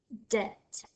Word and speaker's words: debt: sound our next word debt the be and debt this silent our last word for